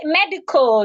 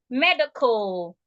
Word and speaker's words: medical: how do you say medical medical the Cal there just make sure that you're not sounding the a medical not MediCal medical what are other linking